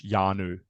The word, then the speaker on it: Hjarnø: and and uh yeah the H is is uh unpronounced so it's yanu yeah yeah that's good